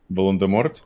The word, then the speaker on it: Волан-де-Морт: Роулинг утверждает, что буква Т в конце этого имени на самом деле не произносится, ведь у него французские корни.